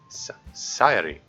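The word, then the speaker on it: Sayori: is my name hmm so you have to flick your tongue against a spot where your front top teeth meet the gums are a little higher if you end up making a D sound you want too high up and hit it too hard it has to be super light and sort of sounds like halfway between l and an R if you do it right so yeah that's how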